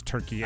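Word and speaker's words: Türkiye: I guess within the last couple years it's been revealed that Turkey is not how you pronounce that. It's Turkey A.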